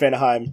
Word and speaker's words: Vanaheim: So yeah, Vanaheim is pronounced Vanaheim, and I'm sad about it.